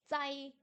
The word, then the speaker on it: 在: Zai, zai, à nouveau. Compliqué aussi, compliqué à faire, hein. Ils nous donnent pas des caractères faciles. Zai, zai, pardon, pas tsai, zai.